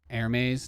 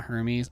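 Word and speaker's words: Hermès: you're like, oh, I'm going to get the Hermes edition that costs $2,000.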